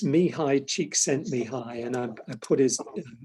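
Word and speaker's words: Csikszentmihalyi: you learned how to pronounce it is probably unpronounceable um it's me hi cheek sent me high and i put his name you might have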